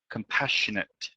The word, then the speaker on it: compassionate: Don't forget the final T here. Compassionate.